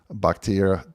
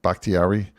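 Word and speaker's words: Bakhtiari: they have um I always say this guy's name wrong uh David bucktier bhaktiari yeah I hope I said it right that's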